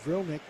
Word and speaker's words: Vrilnik: I did get some confirmation during the intermission that his name is pronounced Vrilnik, despite what the spelling may suggest.